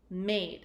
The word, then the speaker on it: made: hasn't at the end when a word ends in an e I need to make sure that I make the long vowel sound so I'll say a